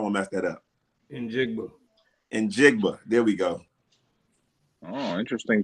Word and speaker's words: Njigba: How you pronounce that? I don't want to mess that up. Njigba.